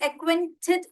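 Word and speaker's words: acquainted: आपको ये एक्वेंटेड बोलना नहीं आ रहा होगा. लेट मी टेल यू, इसको सिलेबल डिवाइड कर लीजिए, इसमें डिवीजन कर लीजिए. एक्वेन, एक्वेन, क्वेन, एक्वेन, एक्वेन, एक्वेंटेड.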